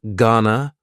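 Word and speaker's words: gonna: contraction just like Wana Ghana is generally pronounced with the schah GNA Ghana you going to ask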